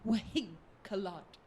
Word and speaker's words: Winklod: So I've given it an Elvish pronunciation of Wahink-a-Lod. Okay.